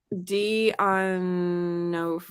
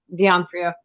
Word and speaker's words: D'Onofrio: And then Vincent, I can't pronounce his name. D'Onofrio. D'Onofrio.